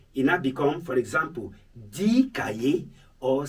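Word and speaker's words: deux: Example, D cahier, not this cahier. Like I told you, on its own, the number is this. But when followed by a word that begins with consonant, the X is silent.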